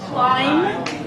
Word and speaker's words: climb: Okay, then the ending, there is no B. Lamb. Comb. Bomb. Right? Not bomb. Climb. Right? Ended with an N.